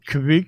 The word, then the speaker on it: kveik: We'll get some yeast, and we got some, is it pronounced Kveik or Kveik? Kveik, yeah.